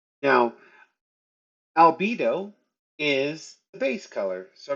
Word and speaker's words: albedo: out So, I have learned that al- it's pronounced albedo according to what they were just saying.